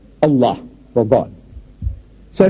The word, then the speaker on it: Allah: it's spelled out a l a h we spell it as a l l a h that's a no man how you spell but